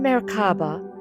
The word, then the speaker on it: Merkabah: The Merkaba Meaning: Light, Spirit, and Body United The term Merkabah (also spelled Merkaba, pronounced Mair-káh-bah) comes from ancient roots, blending Kabbalistic and ancient Egyptian wisdom.